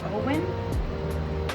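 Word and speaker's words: Owyn: I am using Owen. That's how you pronounce it, and it's chocolate and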